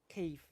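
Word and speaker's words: Kyiv: uh that means that cave is actually the correct way to say the name of the city just so you know with that sort of soft v Cave the Cave I've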